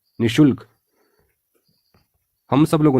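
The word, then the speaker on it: निःशुल्क: विसर्ग लगता है और इसका उच्चारण होता है नि शुल्क निशुल्क इसलिए शुद्ध वर्तनी है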